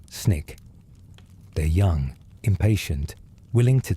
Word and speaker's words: SNCC: The students organized themselves into the Student Nonviolent Coordinating Committee, SNCC, pronounced SNIK.